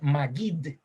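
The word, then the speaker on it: מגיד: La palabra predicador, por cierto, en hebreo se dice magid. Magid. Así se dice la palabra predicación en hebreo.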